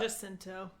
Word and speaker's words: Jacinto: Jacinto.